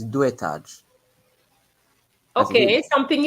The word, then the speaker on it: deux étages: X doesn't change the pronunciation, Giovanni. Oh. So it's deux étages.